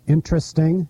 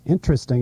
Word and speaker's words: interesting: thinking of words like interesting interesting is really a four- syllable word and family family is